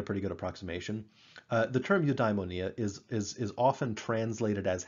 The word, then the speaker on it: eudaimonia: to pronounce it's not to about it's it's pronounced eudaimonia once you give it like the english transliteration